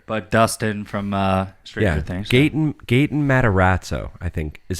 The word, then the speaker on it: Gaten Matarazzo: It's Gaten Matarazzo. Sure. But Dustin from Stranger Things. Gaten Matarazzo, I think, is how you pronounce that.